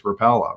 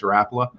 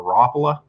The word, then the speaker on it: Rapala: always been even myself it was always repella right um but when i got into the company i quickly realized that no it's rapla and in fact the finns pronounce it more rappola and i think it's just to be completely frank with you even within the company we have people that will say both ways i've always said you